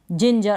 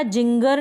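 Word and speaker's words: ginger: जिंजर और यह जो जी आ रहा है आगे इसके बाद में भी ई है इसलिए हमने इसको ज पढ़ा जिंजर पढ़ा जिंगर नहीं पढ़ा यानी इस जी को हम ग नहीं पढ़ रहे हैं जिंगर नहीं पढ़ रहे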